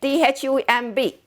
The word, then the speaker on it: thumb: Thumb. B is silent. T-H-U-M-B. Thumb.